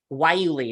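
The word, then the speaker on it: guayule: the word Yuli um it does not look like it sounds like way it looks like okay why you Lee is how you say it or parthenium Argent autumn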